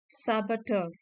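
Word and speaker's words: saboteur: overthinking is a silent यहां पे लिखी है प्रोनंसिएशन साबटर आर साइलेंट है इसका साबेटर साबटर का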